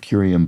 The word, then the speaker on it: curium: Property of curium, but not Oh. Oh, it's a hard C. It's not a property of the substance. It's the word itself. Curium has a hard C and serium does not.